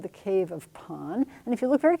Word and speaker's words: Pan: and so this is called the cave of pon and if you look very carefully you're gonna